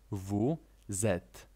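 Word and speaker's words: vous êtes: Jesteście "vous etes". Czy pamiętasz dlaczego wymawiamy drugie słowo zaczynające się na literę Z? Ponieważ litera „s” z poprzedniego słowa zostaje przeniesiona.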